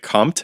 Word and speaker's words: Comte: this all down, going back to, was it Comte? Comte, in the book? yeah, Comte, okay. Yeah.